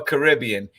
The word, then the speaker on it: Caribbean: to say it right is it Caribbean or Caribbean and the times I've been down there it's pretty unanimous its Caribbean from the local Caribes the indigenous people nautica rib carob so